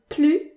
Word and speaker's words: plus: we'll have examples so if the word that follows plu is an objective or adverb that starts with a consonant then the s is